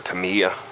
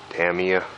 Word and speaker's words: Tamiya: guess I don't wanna say it right the Tamia Tamia like here I got a this is actually a testers can but for the micro j-3 cub I got I I used the Tamiya camel yellow TS 34 it's the paint I